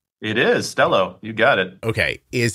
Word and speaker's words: Stelo: Is it pronounced Stelo like hello? It is Stelo.